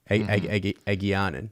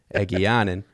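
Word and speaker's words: Egeanin: character's name I could not say last episode, Egianen. Egianen. Let's get that right. Easy name to pronounce. Easy name. Yeah. Egianen.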